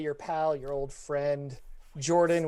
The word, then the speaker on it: Jorphdan: Hey everybody, it's me, your buddy, your pal, your old friend, Jordan with a silent PH in the middle.